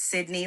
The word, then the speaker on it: Sydney: Our name is Sydney, like the city in Australia, Okay. which is spelled A-M as in Mary E, and then La La Land for California. So Sydney, La La Land